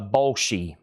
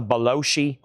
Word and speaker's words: Bolshi: The Bolshi, not the Beloshi. I'm wanting to say it like John Belushi. Bolshi, thank you.